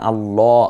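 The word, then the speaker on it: الله: আল্লাহ আগে বুঝতে হবে এটাকে কখনো পোর করতে হয় মানে মোটা করে যেমন আল্লাহ আমি বলছি আবার বিসমিল্লাহ এখানে বিসমিল্লাহ ওই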